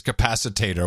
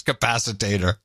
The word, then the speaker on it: capacitor: it's a flux capacitor which she then pronounces capacitator which was even better H we got that wrong flux capacitor yeah so you just